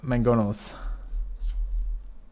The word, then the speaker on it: mangonel: apparently it has two it's spelled with one g but that sound is in there twice it's mangonel apparently which is so weird yeah i mean